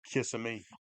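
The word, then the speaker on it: Kissimmee: and all that wood KMI long that's how the locals say it is how the local said or kiss me kiss me I anybody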